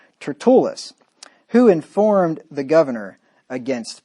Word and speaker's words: Tertullus: with a certain orator named turtleus or tretulis yeah syllables on the emphasis on the second syllable there tertullus who informed the governor